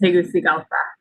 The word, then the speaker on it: Tegucigalpa: the embassy in honduras is tegucigalpa that's how you pronounce that but i do i